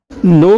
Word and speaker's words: know: के इसमें साइलेंट होता है, इसलिए एन का साउंड आता है, के का नहीं होता है।